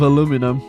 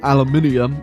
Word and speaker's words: aluminium: We're so out of aluminum, or aluminium, if you say it correctly, that we're now stealing people's aluminium utensils.